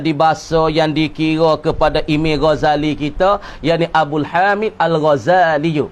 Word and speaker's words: Ghazali: Baca molek baca Ghazal bukan tu, bukan sedik zain. Tanam molek. Ghazali biduni tasydid fi za. Bacanya Ghazaliyu, yang dibahasa kepada kampung tempat yang bernama Ghazal.